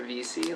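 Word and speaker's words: Vesey: Do we say, is it VESI or VC? Like what? It's VC. It's VC? I looked it up. It's the first rector of Trinity's Church, and it rhymes with the word peace, so it's VC.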